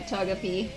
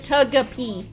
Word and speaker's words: Togepi: I think Kong only got the Togepi, and Nico only got the Noctowl.